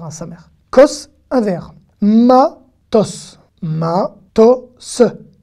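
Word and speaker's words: מטוס: Matos. Matos. Le samer à la fin est e muet, donc il se lit s.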